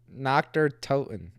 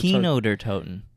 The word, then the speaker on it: Kino der Toten: Kino der Toten. It's a K. Oh, Kino. There it is. Kino Ah, der I Toten. remember Kino der Toten.